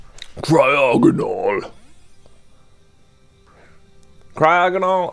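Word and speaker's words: Cryogonal: right cryo good ol cry agonal I think is one of those Pokemon that every single person pronounces a little bit differently cry OGG and all but I'm pretty sure I'm saying it right like whenever I watch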